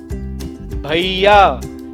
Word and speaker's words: भैया: जब कभी ए की मात्रा के बाद अक्षर य आए तो ये ए की मात्रा का उच्चारण आई हो जाता है। जैसे भैया, भैया। इसका उच्चारण हम भैया नहीं करते हैं क्योंकि ए की मात्रा के बाद य आ रहा है, इसलिए ए का उच्चारण आई किया जाएगा और बन जाएगा भैया।